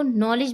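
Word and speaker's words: knowledge: हमारा silent word है silent word मतलब जब हम इन्हें बोलते हैं तो नॉलेज बोलते हैं ना कि को ना कि हम के का साउंड लेते हैं हम नॉलेज उसको बोलते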